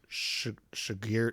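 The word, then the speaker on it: Chigurh: Um, so I think another thing that Anton Shagir Sugar Shagir Shagir Shagir,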